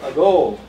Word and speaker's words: ago: Also a go. Second syllable is a strong one. So the first one is weak.